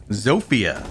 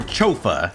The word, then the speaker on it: Zofia: waifu in the game zofia or chofa as i like to pronounce incorrectly sophia is great with their